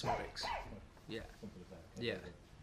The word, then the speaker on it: Szmodics: Yeah, so the Z's basically silent, so it's Szmodics.